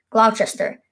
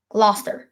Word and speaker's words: Gloucester: all to my pavilion glove Chester we shall my liege or urban ham oh I did it again it's lobster Gloucester Gloucester we shall my leave